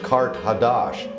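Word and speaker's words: Qart-hadasht: ancient capital of Atlantis Carthage is in the ancient language is pronounced Kart hadash and that means new city so it was a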